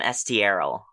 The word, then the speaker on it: Estierel: elf rogue named Jerusalem Estierel. And Jerusalem I'm going to pronounce your last name wrong a lot, and I'm sorry. It's spelled like how it sounds, Estierel.